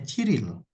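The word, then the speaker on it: 칠일: Tanggal 7, cil ditambah il berarti dibacanya ciril.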